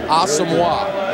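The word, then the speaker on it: Aumua: So I just said, look, easy way for you to tell everybody. Think hockey. Patrick Wah. All right. Awesome. Awesome. Nami Aamwa. It's easy.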